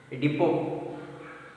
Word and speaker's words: depot: Depot. T is silent.